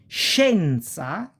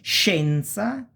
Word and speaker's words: scienza: Scienza, science. And scendere, to go down. And it's pronounced pretty much like cash, this sh sound, okay?